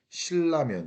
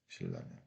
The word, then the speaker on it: 신라면: 리을이 니은한테 영향을 이렇게 준단 말이야. 이렇게 준단 말이야. 그래서 발음 어떻게 되니? 신라면 이렇게 한다고. 신라면.